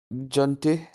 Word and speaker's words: gentil: হ্যাঁ, এলে, হ্যাঁ, Elle était gentille, Jonty, gentle, double L silent gentil, থাকবে এখানে, জে gentil.